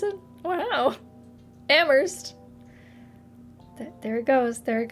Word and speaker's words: Amherst: no wer um ammer looks like it should be Amherst but it is not wor like w sauce